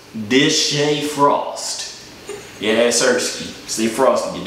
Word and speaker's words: DeShae Frost: It's pronounced Deshae Frost.